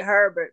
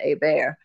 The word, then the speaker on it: Hebert: Like Herbert, but it's set, they pronounce it Hebert.